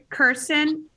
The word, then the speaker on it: Kirsten: for the record please sure my name is kirsten kirsten yes and can you spell that k-i-r-s-t-e-n okay thank you and your address